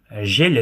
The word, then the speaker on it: жел: Жель - это у нас ээ ветер. То есть там тоже как бы пишется ж, е, л, но как будто бы там после л есть мягкий знак жель.